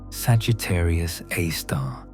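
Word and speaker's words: Sagittarius A*: At the very center of the Milky Way lies an object called Sagittarius AAR, SG A star for short, pronounced Sagittarius AAR, named after the constellation Sagittarius, where the galactic center appears in our sky.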